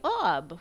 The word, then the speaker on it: Aub: Which conveniently, would be a pronunciation of the shortest version of my gamer name, which would be Aub, which is what a lot of people call me.